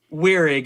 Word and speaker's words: Weirig: I've got my boy Weirig. Am I pronouncing that right? Weirig, yeah.